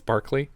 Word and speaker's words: Barclay: barkley barkley broccoli broccoli it's spelled b-a-r-c-l-a-y it's barkley broccoli is the uh